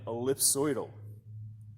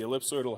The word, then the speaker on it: ellipsoidal: have here on the table is called an ellipsoidal yeah it's a little bit of a tongue